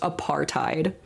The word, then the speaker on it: apartheid: I don't want to be annoying, but it's pronounced apartheid.